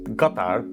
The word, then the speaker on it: Qatar: To the last piece of our puzzle, Qatar, a country that should be pronounced Qatar, but I'm not going to be that pretentious guy who shows up trying to like...